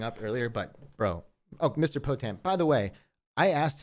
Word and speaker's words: Potam: never call myself, so I don't know how to pronounce it. So Potam is right. Hippopotamus. Oh, Potam. Potam.